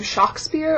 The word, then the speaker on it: Shakespeare: wrong so there's actually some evidence that suggests that he did not pronounce his name Shakespeare there's some some prominent scholars believe he pronounced his name shock spear or sh shocker and not Shakespeare at all so we could